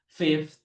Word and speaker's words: fifth: Fourth, fifth. Jadi kelima itu bukan five tapi fifth. Teman-teman bacanya adalah fifth.